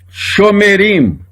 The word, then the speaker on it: Shomerim: Toda vez que o Shevá estiver depois de uma vogal longa, é pronunciado. Shomerim. A outra palavra também, olha, Shofetim, que é juízes.